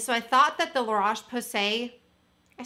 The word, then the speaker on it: La Roche-Posay: And so I thought that the La Roche-Posay, I said it right, micellar water would be extra soothing for micellar water.